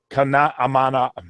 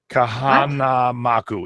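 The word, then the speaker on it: Kahanamoku: So if you do not know who Duke Kanamana, I can never say his name. Too many letters. Duke Kamanamaku. Oh, good Lord. Kahanamaku.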